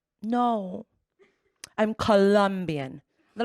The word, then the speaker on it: Colombia: You said Columbia, and that's a university in the United States. I am from the country of Colombia, also in America. It's pronounced Colombia, and they're like, yeah, kein Problem.